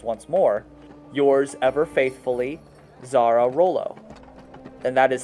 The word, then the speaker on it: Xara: Yours ever faithfully, Zara Rollo. And that is spelled Xara space Rollo.